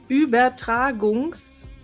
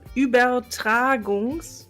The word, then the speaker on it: Übertragungs: Übertragungs. You missed the R. Übertragungs.